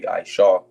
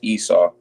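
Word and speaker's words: עשו: it's a masculine name, so it'll be Ishaw. That's why when you hear it in English, it's Esau.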